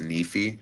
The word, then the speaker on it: Nife: you can check out Nephi Wars. N I F E. Like it sounds like a knife. Mhm. It sounds like it'd be pronounced knife, but it's pronounced Nephi.